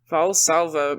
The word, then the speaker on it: Valsalva: Valsalva maneuver, yes.